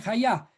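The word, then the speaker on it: חיה: calla es viviente y viviente tiene está escrito está escrito con estas letras hey jude y se pronuncia calla y si también tomamos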